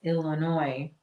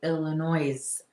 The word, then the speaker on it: Illinois: So it just I know that our state, Illinois, some people say Illinois, but most of those people who say Illinois are not from Illinois. I don't know too many people that say Illinois and live in Illinois.